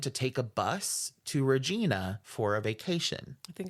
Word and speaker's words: Regina: that she planned to take a bus to Regina for a vacation I think it's Regina shut the up Regina Regina